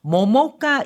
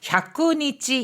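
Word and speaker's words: 百日: 단조가라 태어난 지 100일 되는 날에 하는 의식으로 모모카 이와이 또모 요바레테 이마스 모모카 이와이 100일 잔치라고도 부릅니다. 자, 100일 잔치를요. 야쿠니치 이와이 이렇게 읽지 않고요. 모모카라고 읽어줍니다. 모모카 이와이.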